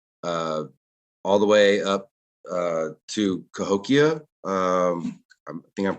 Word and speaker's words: Cahokia: And it was traded all the way up to Cahokia. I think I'm pronouncing that correctly.